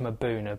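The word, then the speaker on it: Mbuna: fish um a rock dwelling fish called them a boona that's the local name for them and it's pronounced Mauna but it's actually spelled m bu u n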